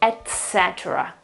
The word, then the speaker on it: etc.: of sound, which is etc. etc. etc. Sorry, etc. There is no X, okay? So this E is a large E, open, okay, then the T,